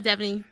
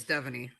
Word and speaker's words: Stephanie: the lip is bitten just say it correctly what what do you get called that's not her name y'all it's Stephanie devony did you hear